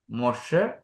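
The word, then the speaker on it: משה: David എന്നാണ് അല്ലെങ്കിൽ ദാവിൻ ഇനി മോസസ് മോ മൊഷ് മൊഷേ ഹെ ഉച്ചരിക്കാറില്ല അടുത്ത് നമ്മൾ എലോഹിം ദൈവം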